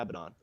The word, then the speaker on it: Abaddon: Moo would be very pleased for you saying Abaddon instead of Abaddon.